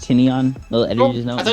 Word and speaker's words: Tynion: It's pronounced Tynion. Little editor's note. I thought it was tie-in.